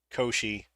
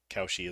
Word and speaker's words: Cauchy: Though while we were discussing this word, someone pointed out that it is more commonly pronounced Koshi than Cauchy, though Cauchy is apparently an acceptable pronunciation if you're British.